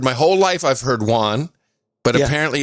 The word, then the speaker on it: yuan: The Chinese yuan was a beautiful, clean, brand new note, and